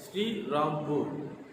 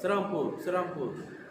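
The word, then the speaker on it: Serampore: Railway ஸ்டேஷன்லாம் போர்டில் ஸ்ரீராம்பூர். ஆனால் அந்த மிஷனரிங்க வில்லியம் கேரி, மார்ஷ்மேன், வேர்ட் அவங்களாம் அங்கே வந்து ஊழியம் பண்ணும்போது அவங்களுக்கு அந்த ஸ்ரீராம்பூர் என்று உச்சரிப்பு வரலை. அதனால் அவங்க சிராம்பூர் இன்றைக்கும் சிராம்பூர் என்று தான் அங்கே சொல்லப்படுது. அவருக்கு இந்த வில்லியம் கேரி கல்கட்டா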